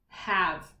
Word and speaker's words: have: This word has a silent E at the end. V. But the A isn't saying its name. This is just one of those words. Have. This is one of those words that you just need to memorize and know this has that silent E at the end. The A, if we said the A's name, it would be have.